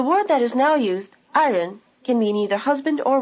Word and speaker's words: 爱人: Notice that in the word 爱人, the second syllable has the neutral tone.